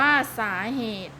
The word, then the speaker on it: สาเหตุ: สมมติ อ่าน ว่า สมมติ สาเหตุ อ่าน ว่า สาเหตุ อัตโนมัติ อ่าน ว่า อัตโนมัติ